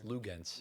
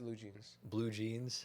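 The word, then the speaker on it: Luguentz: Lugens. Lugens. No, it's Lou Jeans.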